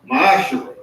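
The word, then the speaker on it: ma'aser: Means tenth in the Hebrew, and is pronounced ma'ashera.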